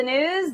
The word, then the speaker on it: Gnooze: hello and welcome to the news the g is silent in Congress today blackwater's